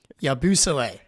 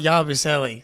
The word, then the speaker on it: Yabusele: Gershon Yabusele. I'm here with Jake Eisenberg. Jake, what's up, buddy? Well, I really enjoyed getting hammered home the correct pronunciation of Yabu's name, Yabusele, not Yabusele.